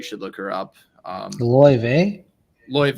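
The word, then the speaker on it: Laufey: there is emerging jazz artist who goes by L ve if you haven't heard her you should look her up um lve lve it's spelled l a u f y it's spelled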